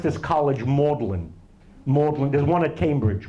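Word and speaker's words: Magdalen: comes from the British pronunciation of magdalin they pronounced this college mlin mlin there's one at Cambridge mlin with an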